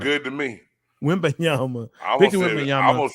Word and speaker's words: Wembanyama: Wembanyama. Hey, that sounds good to me. Wembanyama.